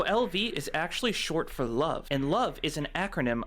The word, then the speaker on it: LV: It's pronounced love.